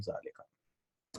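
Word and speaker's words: ذلك: But they're written without the alif. There's no alif written here, but they're pronounced. It's understood that this is haza. This is not haza or zalika. This is haza and zalika.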